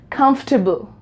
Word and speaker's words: comfortable: you can see that we are not pronouncing the middle portion this one we are not going to pronounce it right so this words correct pronunciation is comfortable comfortable right I'm pronouncing